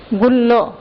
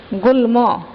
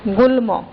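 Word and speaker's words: গুল্ম: এটা কোনটি একটা হচ্ছে গুল্ল গুলম গুলো গল্প তাহলে কোন উচ্চারণটা সঠিক এটার সঠিক উচ্চারণ হচ্ছে কে গুলম ঠিক আছে এর উচ্চারণ হচ্ছে গুলম অর্থাৎ এখানে ম এর উচ্চারণ বজায় রয়েছে অর্থাৎ যেমন আছে যে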